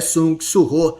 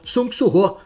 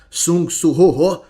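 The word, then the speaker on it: Sung Suho: E a elfa ainda soluçando, respondeu: "Circa Surrô tenta ensiná-la a pronunciar seu nome corretamente. É Sung Surô. Sung surrô. Mas a pequena apenas falava: Sungorô.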